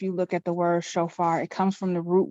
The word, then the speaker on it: shofar: And it's pronounced shofar.